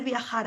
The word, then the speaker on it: viajar: Verano, viajar, the J is a H, para ver la tierra de Cervantes y Don Quijote, Quijote, lejos de los turistas.